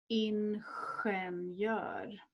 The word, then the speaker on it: ingenjör: A common one that people come across is the word for engineer, ingenjör, ingenjör. Another letter combination that is pronounced is SI, C.